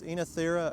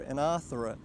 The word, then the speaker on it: Oenothera: little bit different, but you can pronounce the genus Oenothera or Oenothera.